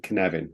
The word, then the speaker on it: Cynefin: That's called the 3+1 version of Cynefin, which is how it's pronounced.